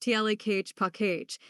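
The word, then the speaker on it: Tlaquepaque: Originally envisioned by Nevada businessman Abe Miller in the 1970s, Taka Paka, pronounced Ta Cage Page, was created specifically to provide studio space for artists drawn to Sedona's inspirational landscape.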